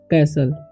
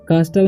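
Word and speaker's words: castle: ठीक है से कैसल कास्टल नहीं पढ़ना या कैल नहीं पढ़ना है कैल पढ़ना ठीक है य पर टी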